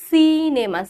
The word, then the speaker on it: সিনেমা: বাংলায় আমরা ব্যবহার করি সিনেমা সি এর উচ্চারণ যেটা করি ওটাই একমাত্র হচ্ছে দন্তসয়ের উচ্চারণটা আমরা করতে পারি এছাড়া আমরা পারি না আবার বলছে দন্তসয়ের উচ্চারণ মানে কি ম্যাম রূপস্তরটা ঠিক বুঝলাম না।